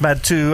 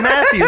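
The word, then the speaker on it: Mathieu: best i'm like i i didn't know this pronounced my two i've been saying matthew the whole time i feel like justice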